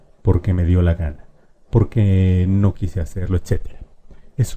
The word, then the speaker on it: porque: Porque sí, porque me dio la gana, porque no quise hacerlo, etc. Es una explicación. Y fíjate bien cómo es la pronunciación. Porque es una palabra grave.